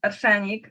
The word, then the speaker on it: Arshenic: The band is called Ashani.